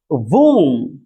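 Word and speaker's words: womb: और मैं बताता हूं, जैसे मैं कहूं वोम, ओम, इसे वोम पढ़ते हैं, ओम। अब यहां पर जो ओ है इसे छोटा ऊ की मात्रा के साथ इसको प्रोनाउंसिएशन किया जा रहा है।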